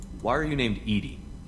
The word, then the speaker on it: EDI: Why are you named Edie? ED is the phonetic pronunciation of EDI.